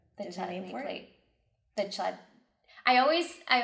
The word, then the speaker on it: Chladni: It's kind of like the chladni for plate. The chlad. I always. I'm like, what do you say? Chladni plate. That's how you say it. Chladni plate.